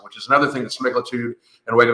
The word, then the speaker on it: semaglutide: And the reason for this is that there is a black box warning on semaglutide.